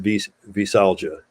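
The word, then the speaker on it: veisalgia: is it v-e or v-a v-e yeah it's pronounced visalja men and women can go through this right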